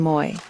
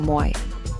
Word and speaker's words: moi: Now, let's learn our second greeting, moi. It is pronounced like the English sound moi, as in toy.